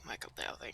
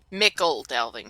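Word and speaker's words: Michel Delving: Let's do Michael Delving. I know Michael Delving. Mickle Delving, sorry. It's Mickle Delving. I've been pronouncing that Michael Delving for the past 10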